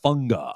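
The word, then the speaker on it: Fonua: It's not Isaiah Fagga. It's Isaiah. Isiah funa. I guess it's like tongue of sense.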